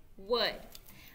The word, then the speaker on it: would: one more time w o u l d wood okay we are going to play trick word